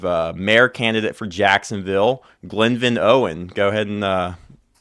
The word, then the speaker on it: Glenvin: I get a lot of people that butcher the first name, but yes, uh my name is Glen Van Owen Jr.